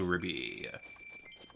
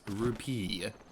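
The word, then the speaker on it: rupee: wall ooh purple Ruby okay so I need to say something real quick I know that's not how you pronounce rupiah its rupiah that's the proper pronunciation of the collectible I get called out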